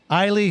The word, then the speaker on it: Aili: Small So I want to introduce Rhymes with Smiley, Aili.